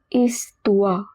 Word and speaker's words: histoire: 105e leçon, 25th lesson, Douze histoires drôles. Histoire, it means stories. Remember, H in the beginning is always silent. OI is pronounced as UA. Histoire.